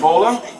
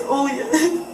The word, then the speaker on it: Olya: How do you say your first name? Bola? It's Olya.